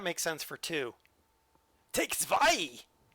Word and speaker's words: zwei: Take zwei! At least I know that W is pronounced with a V.